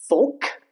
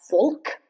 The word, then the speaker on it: folk: Almond folk. It's not folk. It's folk.